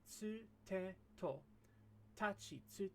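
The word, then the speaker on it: つ: It's ta, chi, tsu, te, to. As we discussed before, there are no t or tu sounds in Japanese.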